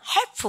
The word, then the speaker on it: half: 그러면 L 발음 묵음 half 혼납니다.